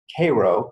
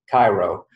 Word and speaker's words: Cairo: have in western Nebraska called Cairo pronounced a little bit differently than Cairo but the purpose of